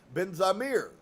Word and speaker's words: Ben Zamir: Sudi, I am Ben Zamir. And it sounded something like Benjamin, and I asked him if that was the name, but he replied, Ben Zamir, with the accent on the last syllable.